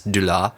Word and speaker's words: DuClaw: I was going to say, I think the C is silent. So it's DuClaw. DuClaw, okay. Or the D is silent. I don't know if that's true. The D is DuClaw. Okay, I like that.